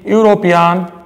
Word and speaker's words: European: European and unique position here you will see the existence of you II and you they're basically vowels but their pronunciation is not the vowel here because you are pronouncing at University European and unique that is you we are pronouncing it as you so while you are